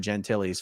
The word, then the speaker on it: Gentile: And I am shocked that David Miscavige has not booted every one of David Gentile's family members out of the Sea organization, because this is going to be dirty, dirty, dirty, dirty, dirty.